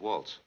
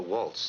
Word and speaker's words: Walz: My grandfather was Jacob Waltz.